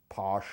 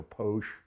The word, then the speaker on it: Pox: Now the bottle says Pox, but it actually is pronounced Posh or Posh.